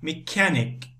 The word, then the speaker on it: mechanic: don't say you mechanic CH we say K mechanic mechanic okay so another